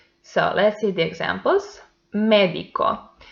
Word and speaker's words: médico: Médico. The antepenultimate syllable is the stressed one, and by that is esdrújula, so it has accent mark.